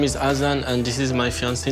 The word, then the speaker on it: Azan: is my fiance Nicole he says as in here not Hassan like his first interview so because he's saying his name this way I'm going to pronounce it as he does in the interview did he just stick